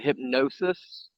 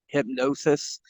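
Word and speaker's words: Hipgnosis: all know um the art collective was called hypnosis and they spell it h-i-p-g-n-o-s-i-s hypnosis and they did a couple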